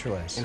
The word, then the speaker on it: IntraLase: Is that how you pronounce it? Yes, Intralase.